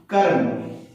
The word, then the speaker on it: कर्म: तो यहां पर म के ऊपर रेफ की मात्रा लगेगी और म के पहले अर्ध व्यंजन र के रूप में इसका उच्चारण होगा कर्म। क्या होगा, कर्म।